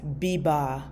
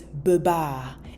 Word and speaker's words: beba: But if you only speak English, you may read this as biba because this is the letter E. But this E is pronounced as B. So it's beba.